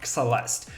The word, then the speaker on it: Xelest: The first letter is an X, so it's Xelest instead of Celeste.